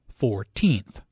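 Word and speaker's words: fourteenth: The stress is on the second syllable, 14th.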